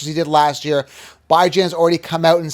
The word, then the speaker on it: Bijan: It's not Beejaon. Anyways, it's Bijan, like bi-weekly, and Jan is in January, as in ran.